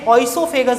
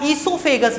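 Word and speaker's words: oesophagus: वैसे ऑइसोफेगस बोलते हैं या ईसोफेगस भी बोलते हैं। कई बुक में ओ से स्पेलिंग चालू है, कई में ई से चालू है।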